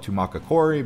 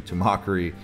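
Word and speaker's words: Tumacácori: Some people call it Tumacacori, but it's actually Tumacari.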